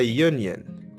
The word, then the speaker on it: union: example a user a user another one a union a union we have to consider a and n with silent letters in english there are silent letters a